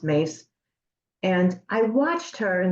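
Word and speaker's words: Myss: um M SSS my SS spell but it's pronounced mace and I watched her in the early years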